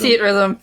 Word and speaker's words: Theatrhythm: Theatrhythm. I know. Theatrhythm? It's spelled in a weird way, but that is how it's said.